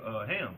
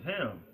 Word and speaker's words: Ham: It says Ham, perhaps hot. And how you say it in our language is Kham.